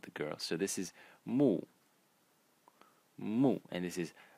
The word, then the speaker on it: 木: given name of the girl so this is Moo Mo and this is Lan LAN the small